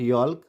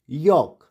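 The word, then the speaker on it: yolk: यॉक, नॉट यॉल्क, यॉक।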